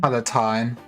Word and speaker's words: Palatine: Sounds like it's paladin, but with a T and an E at the end. Basically. Okay. So Palpatine without the P. Or the second P.